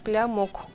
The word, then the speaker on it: блямук: Блямух или блямук? Бля, ну у нас как буква другая пишется, а так блямук. Блямук, да? Да, пишется блямук.